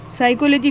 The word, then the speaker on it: psychology: फिर मनोविज्ञान साइकोलॉजी, P silent रहता है इसमें।